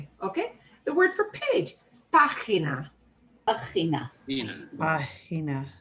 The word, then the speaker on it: página: Página. Página. Página. And that accent on the ah means we punch that more.